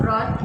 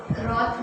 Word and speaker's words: wrath: Okay, wrath means anger and W is silent, so you will not pronounce W.